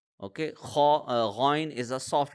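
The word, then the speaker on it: غ: And Ghayn comes from the top throat. from this place, from this very place, the letter kha is also produced. However, kha and ghain, despite of the fact that kha and ghain being heavy letters, both of these, however, kha is more harder and ghain is a softer version. Okay, ghain will be read softly, whereas kha is read hard.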